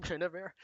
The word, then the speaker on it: Guinevere: yeah, thank you, Guinevere.